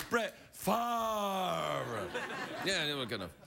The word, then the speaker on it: Favre: I beg your pardon, I didn't say it properly. Brett Favre.